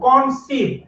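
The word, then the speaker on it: conceive: কনসিভ উচ্চারণটা সি এর উচ্চারণটা হবে এস এর মতো, কথা বুঝছেন?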